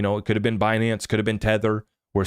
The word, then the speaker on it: Binance: Yellen calling it bonance instead of calling it binance she was calling it bonance right she was missing the ey bonance and that was my favorite part of the